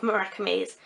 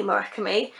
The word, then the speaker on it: Murakami: I googled some website where it brought up Japanese speakers saying it and they all said Murakami, and ever since then every time I've heard someone say his name they've said Murakami.